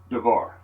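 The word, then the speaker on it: דבר: word Navarre d'ivoire i'm going to spell it phonetically in english first devar I hope that's showing up on the video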